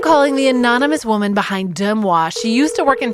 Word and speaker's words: Deux Moi: People think that like I'm pronouncing it wrong, but it's just it's intentional. So it's Deux Moi.